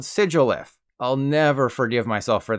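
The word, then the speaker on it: Sigilyph: of sigil and glyph so obviously it's called sigilith I'll never forgive myself for this one and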